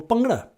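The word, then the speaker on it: bhangra: So the second one we call pungra. It's spelled the conventional way with the b h g r a.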